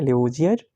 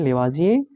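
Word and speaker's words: Lavoisier: या हिंदी में कहीं कहीं लेवासिए भी लिखा होता है, इंग्लिश में लेवोजियर, लेकिन आप याद कीजिए लेवाजिए, क्योंकि उनका प्रोनाउंसिएशन लेवाजिए ही होता है।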